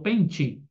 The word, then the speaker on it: pente: tem som de i na palavra pente eu não falo pente falo pente então é tem som de ir então no português